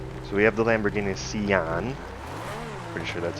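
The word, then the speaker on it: Sián: So we have the Lamborghini Sian.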